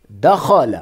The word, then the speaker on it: دخل: دخل، خا کو موٹا پڑھیں گے، دال اور لام کو سمپل پڑھیں گے.